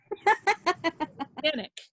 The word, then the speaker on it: Staniec: Staniec. Staniec. Yeah. Staniec. Even though it's Staniec.